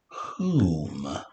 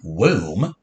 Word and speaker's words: whom: Our first sound again is but once again, it's w with a feather, not saying w. Right? This word's not womb. Whom.